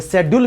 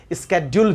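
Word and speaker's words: schedule: ये शेड्यूल भी सही है, स्केड्यूल भी सही है।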